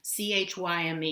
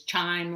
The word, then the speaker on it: chyme: that we call khan c-h-y-m-e you hear people sometimes mispronounce it as chime like a doorbell but it's chyme the ch is pronounced like a k this chyme leaves the